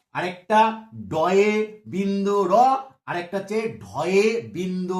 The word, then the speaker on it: ড়: এটাকে দেখো, এটা নিয়ে সমস্যা আছে, ওই বয়ে শূন্য র, তার দেখা দেখি এটাকেও বলে যে ডয়ে শূন্য র, এটাকে বলা হচ্ছে ডয় না, এটাও কিন্তু কোথাও শূন্য দিয়া নেই, এটাও কিন্তু বিন্দু দিয়ে আছে।